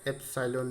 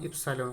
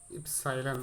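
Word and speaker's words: epsilon: এর মান হয় 1/4 এপসাইলন নট। এটার উচ্চারণ কি, এপসাইলন বা ইপসাইলন বলা হয়, উচ্চারণটা কি এপসাই নট, এভাবে উচ্চারণ করবো আমরা। অ্যাকচুয়ালি এরকম হয়, ইপসাইলন হয় শুধু, এই কিন্তু নয়, ইপসাইলন বলা হয় এটাকে।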